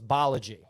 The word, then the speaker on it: Balaji: like how to say his name, so it's Balaji.